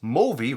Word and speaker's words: movi: And a way to remember that is movi rhymes with shovi. Shovi means to shove.